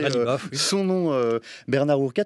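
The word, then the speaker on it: Ghalibaf: Mohamed Bagher Khalibaf, c'est vous qui venez de m'apprendre à prononcer Khalibaf, oui.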